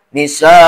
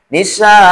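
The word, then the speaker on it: النساء: membaca An-Nisa, gitu kan, kadang mad iwadnya tidak dibaca, Nisa, cukup gitu. Nah itu salah cara bacanya, gitu kan. Harusnya Nisa. Nah A-nya itu namanya mad iwad. Jadi dibaca A-nya, tapi jangan kepanjangan. Batasannya cukup di 2 harkat saja.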